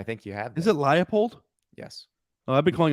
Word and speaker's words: Leipold: Was it Lance Leipold?